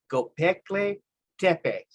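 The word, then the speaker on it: Göbekli Tepe: Now, this next one right here, I can actually tell you the correct pronunciation. It's Gobekli Tepe.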